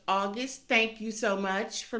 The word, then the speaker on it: Agust D: is and it's pronounced august thank you so much for letting me know that it wasn't aegis d was august d even though it's missing the letter u okay all right i'm